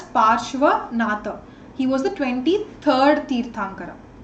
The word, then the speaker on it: Parshvanatha: Tirthankara is known as Parsvanatha. Again, the spelling might vary from textbook to textbook, but he's basically pronounced as Parshvanatha.